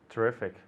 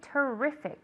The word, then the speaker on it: terrific: tea the next one terrific exactly okay great terrific okay the the intonation is on the E terrific on the in on